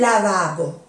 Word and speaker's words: lavabo: Se escribe igual, solo que la entonación cambia un poco, ¿eh? Un lavabo.